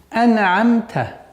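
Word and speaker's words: أنعمت: Здесь два звука назализованные, то есть буква нун и мим. И с ним нужно, когда при произношении, нужно быть осторожным, чтобы они не переходили в взрывные звуки, звуки калькаля. Ана-амта. То есть нельзя скоростечно уходить от этого звука при произношении. Нужно медленно выговорить до конца и перейти на следующий звук.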